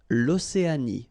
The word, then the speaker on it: Océanie: L'Océanie, final E not pronounced.